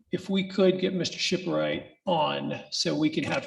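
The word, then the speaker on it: Schipporeit: for our court quarter yes uh thomas m shipwright s s-c-h-i-p-p-o-r-e-i-t okay so i don't know if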